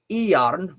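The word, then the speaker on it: Járn: That's pronounced Iarn, which is iron knife.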